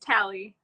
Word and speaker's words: Tali: segue to uh ta am I pronouncing your name correct t uh it's tally Tally okay I'm like totally making